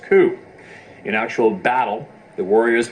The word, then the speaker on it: coup: In Native American cultures, there is a practice known as counting coup, pronounced coup.